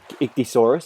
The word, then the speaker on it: Ichthyosaurus: It's Ichthyosaurus, that's how you say it.